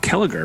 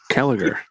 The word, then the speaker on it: Kellagher: Welcome to the show, Bob Kellagher, right? Is that how you say it? That's right. Kellagher.